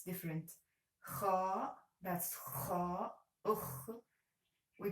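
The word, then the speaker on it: خ: The first one is Ha, Ha, Kha, Kha, and the third one is Jim, Jim, J, J. Ha, Kha, Jim, and this is another. This is another order. It's different. Kha, that's Kha. Ukh, we pronounce it like Ukh.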